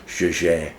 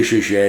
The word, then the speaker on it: Jaeger: few years ago, and he called it the French pronunciation, which is Jaeger. When you say Jaeger, you become a little bit affected. So it's Jaeger or Jaeger, however you want to do it. Depends who you're talking to.